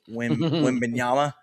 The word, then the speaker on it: Wembanyama: Chet Holmgren on Victor Wembanyama, is how you say his name.